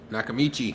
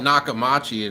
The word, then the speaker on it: Nakamichi: Nakamichi. I always mispronounce it. I used to call it Nakamachi, and then somebody corrected me.